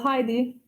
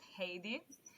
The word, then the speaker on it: Heidi: you replay also tell heidi that you would like to see this or join my name is properly pronounced haiti i'm sorry no it's